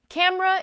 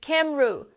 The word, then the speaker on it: camera: Camera is cam-ruh, not cam-e-ra.